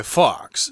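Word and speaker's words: Fawkes: pronunciation comes out so don't let the spelling confuse you just think of the the word fox fox so the plot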